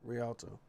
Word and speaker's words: Rialto: Yeah, Rialto.